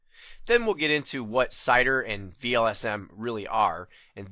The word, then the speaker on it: CIDR: save the letters because I pronounce this acronym cider but many people pronounce it sitter and I've even seen it pronounced as cedar cider sitter cedar don't